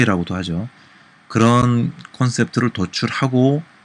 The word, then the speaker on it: 콘셉트: 들어봤을 용어와 컨셉트 뭐 표준은 콘셉트 라고 하는데 현장 발음이 컨셉트에 가까워서 전 컨셉트의 표기를 합니다